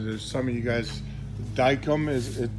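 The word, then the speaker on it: Dykem: some of you guys dicum is it it's spelled d-y Kem daikum and you get it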